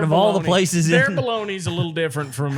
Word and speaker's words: Bologna: okay so this says italians pronounce it bologna bologna bologna bologna bologna bologna you should put a little extra in it yeah belong